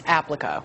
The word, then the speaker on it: Applico: There are jobs out there, and I want to make sure I pronounce the company's name because I said it wrong. It's Applico. Correct.